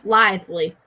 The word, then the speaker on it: lithely: Lithely? Yes. Yeah, lithely. Lively. That is how you pronounce that, yes.